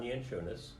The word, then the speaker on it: Yanchunis: - Sure, my name is Yanchunis. It's spelled Y-A-N-C-H-U-N-I-S.